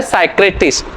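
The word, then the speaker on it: psychiatrist: अगला वर्ड होता है साइक्रेटिस्ट। ये साइक्रेटिस्ट बहुत इंपॉर्टेंट है, ये बहुत पूछा जा सकता है क्योंकि इसमें P साइलेंट होता है, ठीक है ना।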